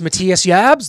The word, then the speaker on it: Matthias Jabs: that was able to catch up with guitarist Matthias jabs Mattias jabs you know kind of in to put in an American Way I mean his name is pronounced Matthias jabs that's how we will refer to it as